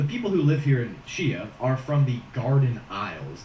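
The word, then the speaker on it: Xia: Chia is next, and it's spelled X-I-A, but I think it's pronounced Chia, so just bear with me.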